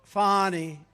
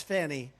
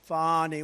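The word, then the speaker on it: Fani: right has anybody fonnie it's pronounced fonnie F A ni I that's Fanny but she likes it fonny when she became the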